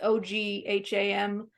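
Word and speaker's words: Ogma: Ogham or Om. It's Ogham.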